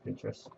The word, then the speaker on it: Pinterest: Yes, I think that's how you pronounce it. Pinterest or Pinterest. It's Pinterest.